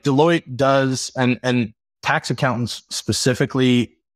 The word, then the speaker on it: Deloitte: Yeah, Deloitte even rhymes with exploit.